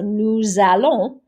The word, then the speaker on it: nous allons: So we never pronounce this S at the end unless the next word begins with a vowel. So nous allons, but nous chantons, or ils parlent versus ils arrivent.